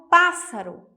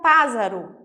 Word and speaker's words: pássaro: temos aqui a palavra pássaro pássaro eu preciso colocar dois ésses senão fica pássaro e não é assim que ela é pronunciada né engraçada correto